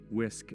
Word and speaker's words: WSCC: So WSCC, somehow the other W's fall out, but whatever. WHISK is how it's pronounced.